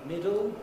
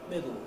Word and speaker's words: middle: is a possible pronunciation middle with a schwa though it's very unusual to hear adults say that in southern britain middle uh without the schwa we get middle middle of course there's